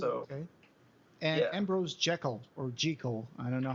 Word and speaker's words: Jekyll: Hyde I think that the author said that it was pronounced G Cole so I've always pronounced it G Co okay cool so